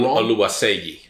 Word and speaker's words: Oluwaseyi: Oluwaseyi, but we've been saying his name wrong. Oluwaseyi.